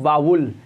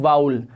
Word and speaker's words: vowel: right pronunciation होता है मैंने युटुब पर बहुत सारे ऐसे टीचर्स देखें हैं जो इस वावेल साउंड को सही से प्रोनाउंस नहीं कर पाते और वह इन्हें बोलते हैं बाबुल या वावेल लेकिन इसका राइट प्रनंसीएशन होता है वावेल राइट तो डीज आर